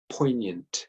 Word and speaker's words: poignant: of the word poignant poignant so we don't actually pronounce the G in this word what's the best definition of the word poignant just going to move